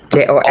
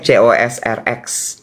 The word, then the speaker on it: Cosrx: Mereknya C O RX. Bacanya apa tuh? Cosrx. Oh, heeh. KX enggak tahu. Pokoknya Cosrx belinya waktu itu di ada satu supermarket beauty gitu di Melawai supermarket beauty Korea. Oh, Cos RX bacanya. Cos RX ternyata.